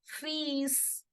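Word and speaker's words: fils: in French simply as fees you see the L here is for decoration okay you don't have to make any sound of this L this is just for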